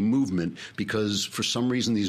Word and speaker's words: MVMT: This one actually is spelled MVMT, movement, because for some reason these new companies, they can't use vowels.